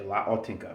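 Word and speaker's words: L'Autentica: Another Beverage Ramble edition today from Birra Moretti, La Autentica, or La, if I pronounce it correctly, La Autentica. I say La Autentica, which means authentic.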